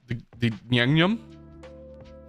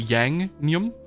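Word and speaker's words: 양념: I'm saying that's so wrong. The yang-nyum. I don't know how to say it. How do you say that? I have to look this up because it's my favorite. Oh God, give me a sec. How do I pronounce it? Pronounce yang-nyum. Okay. Yep, I got it right.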